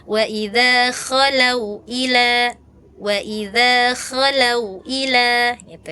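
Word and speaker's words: خَلَوْا: Nah, idza kakak bacanya cuma idza khalau. Jadi kesannya seperti ha ya, cuma ha di diganti o gitu ya. Harusnya kan di sini kayak di ujung ya. Kalau K itu di ujung tenggorokan.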